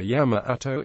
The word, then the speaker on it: Yamato: The usual Japanese reading of would be Sanseki in Sino-Japanese Onyomi or Yamato in native Kunyomi.